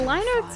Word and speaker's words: Linux: No, But how do you pronounce Linux, it? Linux.